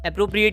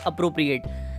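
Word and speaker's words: appropriate: एप्रोप्रिएट के 2 pronunciation prevalent है, प्रचलित है बहुत ज़्यादा। एक एप्रोप्रिएट और एक अप्रोप्रिएट।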